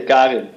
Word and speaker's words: Karin: In Dutch, we say Karin.